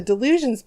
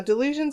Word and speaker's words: Dylusions: delicious but for the delusions paints now delusions are made by a ranger dialouge it's spelled like die like dy the illusion so you're dyeing things not delusional oh my god I